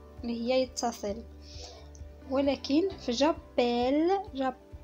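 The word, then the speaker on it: j'appelle: هي يتصل، ولكن في جابيل لاحظوا معايا في النطق ما كنسمعوش ماشي جابول ولا شي حاجه، كنقولوا جابيل وكندوبليو فيها ال دوزل.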